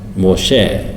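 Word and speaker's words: משה: 모셰 밀크쉐이크 할 때 쉐 있잖아요.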